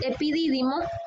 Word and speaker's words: epidídimo: Después le sigue el órgano del epidídimo, con acento en esta I, epidídimo, que es todo este